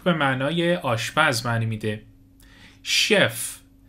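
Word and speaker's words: chef: معنای آشپز معنی میده شف شف به معنی سرآشپز شف دقت به تلفظش داشته باشید شف معنی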